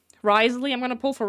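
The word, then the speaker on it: Wriothesley: head again and remember how they say to pronounce the name. Risley.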